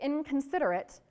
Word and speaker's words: inconsiderate: If you say inconsiderate, the N there is actually a ng, like the end of the word sing, right? Why? Because that's where the C is pronounced, k, k.